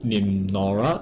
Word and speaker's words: NimNoraa: a illustrator and he goes by the name name Nora is that how I pronounce was it yeah it's it's just my